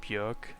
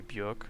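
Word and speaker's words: Björk: is by the way bjork or bjork but they always say bjork because maybe bjork just rhymes with jerk or it sounds too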